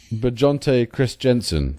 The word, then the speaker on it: Christensen: It's Chris Christensen.